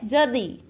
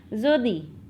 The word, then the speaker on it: jeudi: How we will pronounce Thursday in French? That is, yes, jeudi.